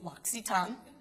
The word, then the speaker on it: L'Occitane: So, the L'Occitane family, I'll tell you a little bit about them if you don't know, and the way you pronounce it is L'Occitane.